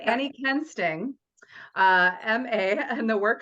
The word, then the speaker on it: Kuensting: her name is Annie Quin sting did I pronounce that right no it's Ken sting but I mean the U is silent but it's not supposed